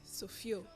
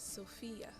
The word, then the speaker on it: Sophia: The proper way to say it actually is Sophia. Sophia. Okay, Sophia. Ladies and gentlemen, her name is Sophia, not Sophia.